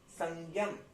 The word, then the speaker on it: संयम: अम, म पूरा नहीं है, तो इसलिए म पूरा नहीं आएगा, संयम, आधा म, धातु संयम, धातु संयम, धातु संयम।